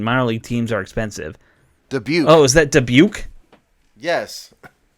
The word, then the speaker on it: Dubuque: So, and what is it's the one I can't pronounce. It's Dubuque, Dubuque. Okay, that town. Yeah, Dubuque.